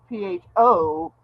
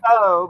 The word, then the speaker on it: pho: it's like people that mispronounce pho because it's spelled PHO. So everybody thinks it's Right. pho, but it's pho.